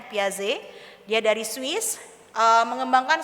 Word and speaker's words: Piaget: seorang psikolog perkembangan bernama Jen paz gitu ya memang tulisannya Piaget tapi dibacanya piaze dia dari Swiss eh